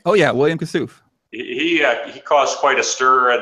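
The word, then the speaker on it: Kassouf: Is that how you pronounce his name? Oh yeah, William Kasouf.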